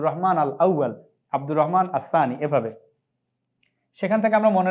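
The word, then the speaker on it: الثاني: এভাবে লিখেছি আল সানি কিন্তু উচ্চারণ করার সময় আমরা আসানি বলবো লামটা উচ্চারণ হবে না এখানে হরুফ শামসিয়া হরুফ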